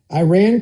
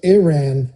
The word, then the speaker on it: Iran: Now, I was I was tried to somebody tried to coach me into pronouncing Iran and Iraq the same way that I would pronounce Italy. So, Iran, Iraq, I guess I got to work on that.